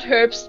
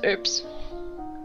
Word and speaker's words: herbs: to herbs medicine too oops oops you don't pronounce the aging in her herbs earth it's not herps it's herbs and then decide to be true yeah I